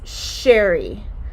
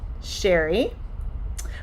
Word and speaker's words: Cheri: It's Cheri. So in order to pronounce that sh sound, it's like you're telling someone to be quiet. Cheri.